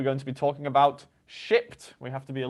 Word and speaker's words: Shipt: And today we're going to be talking about Shipt. We have to be a little careful in our pronunciation of this particular Yes. piece of software. Yes, Shipt. Oh God. Let's try that again. Shipt.